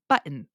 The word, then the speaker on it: button: In my particular accent, I do not pronounce the T's almost at all. For example, the word button, internet. Where did the T go? I don't know. We don't need it.